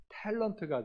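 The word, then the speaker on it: talent: 오리지널 영어 발음으로 하면 탤런트가 되죠.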